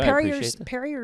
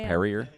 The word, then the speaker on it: Perrier: Parrier is not bubbly enough. You're saying it wrong. I think you know that right. Perrier.